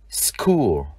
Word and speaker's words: school: Danh từ trường học, chữ CH chúng ta đọc là K. School.